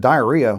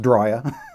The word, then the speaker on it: Drya: saw that ad and said, diarrhea, why do I want a diarrhea pistol? Well, it's pronounced Drya.